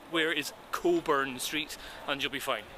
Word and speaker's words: Cockburn: sped cockburn street but it's pronounced as a local would say Coburn Street so just say where is Coburn Street and you'll be fine if you say cockburn you'll get giggles this